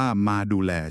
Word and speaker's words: Mcrdole: อำเภอ เมือง จันทบุรี โดย เฉพาะ เลย ชื่อ ว่า มา ดู แล ค่ะ ครับ อ่าน ว่า มา ดู แล ใช่ มั้ย ครับ ชื่อ น่า รัก ดี